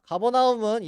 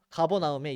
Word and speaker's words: 가버나움: 가버나움은 여기 갈릴리 호수가 있는 요 지역이 가버나움 땅입니다. 가버나움 도시에 예수님이 오셨습니다. 가버나움에 우리 말로는 가버나움이라고 하지만 이제 본토 발음으로 케르퍼나훔이라고 합니다.